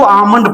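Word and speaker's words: almond: एंड आमलंड इसको आमंड पढ़ते हैं। आलमंड नहीं पढ़ते हैं।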